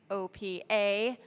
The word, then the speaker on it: OPEA: It's actually OPA, so I'll say OPEA.